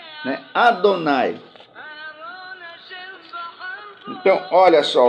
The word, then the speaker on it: Adonai: dos sinais vocálicos, né, que resultou no nome Yehová, porque eles ignoravam, eles desconheciam que os sinais vocálicos foram deixados pelos maçoretas aqui, não para dar essa pronúncia ao nome do Eterno, mas é para que cada vez que eles se deparassem com esse nome, deveriam pronunciar Adonai, né?